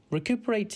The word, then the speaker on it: recuperate: r a t e think of re then cup then e r and then eight recuperate has two meanings the